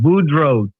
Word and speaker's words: Boudreaux: So EAUX is pronounced O, like Arsenault, Boudreaux, Thibodeau.